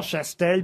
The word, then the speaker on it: Chastel: Et là, il m'a dit Castel, alors que c'est Chastel. Oui, Chastel. Edmond Bûcher, Jean Chastel, Bûcher-Chastel.